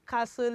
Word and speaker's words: castle: Stuck in the castle is a silent T.